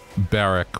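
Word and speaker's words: Berwick: similar ones like there's a place called uh Barrack which is print which is spelled b-e-r-w-i-c-k it's like I've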